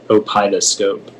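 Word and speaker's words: opeidoscope: Are there any alternate pronunciations? It's just the one, opidoscope.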